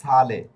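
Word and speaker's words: sale: শব্দের শুরুতে যদি এস এ অক্ষর থাকে। আর এস অক্ষরের পরের অক্ষর যদি বুকালে হয় তাহলে এস অক্ষরের উচ্চারণ স এর মত হবে।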